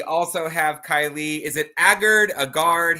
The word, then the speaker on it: Aagard: have Kylie is it agard a guard how do you say your last name um in America it's aard in the country originated from it's ogard I think is what it is so okay I would